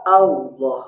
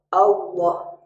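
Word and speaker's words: الله: Insya Allah, huruf lamnya tebal, Allah. Nah, termasuk lafaz Allah kalau ditransliterasi tidak bisa karena bunyi lamnya harus tebal, Allah. Sedangkan kalau ditransliterasi jadi Allah.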